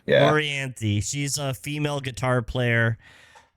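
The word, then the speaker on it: Orianthi: We are talking about, how do you pronounce her name again? Orianthe, yeah. Orianthe.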